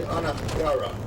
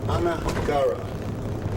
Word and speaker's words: Niagara: Incidentally, the word Niagara is an Indian word. It's pronounced really Anagara. Anagara.